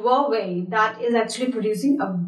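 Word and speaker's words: Huawei: are it's a very popular brand but we pronounce it y way yeah the right to announces what they answers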